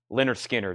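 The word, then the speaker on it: Lynyrd Skynyrd: Van Halen self-titled and Leonard Skynyrd pronounced Leonard Skinner that is new and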